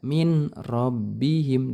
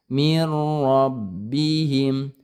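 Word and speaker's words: مِنْ رَبِّهِمْ: Mir rob, jangan dibaca min rabbihim, dileburkan. Mir rabbihim, mir rabbihim.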